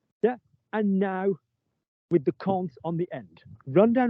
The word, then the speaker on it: compte: Yeah, do not think about how it's spelled because it will scare you all because it's got an M and a P and a T, just say compte, like C-O-N-T, imagine it's that.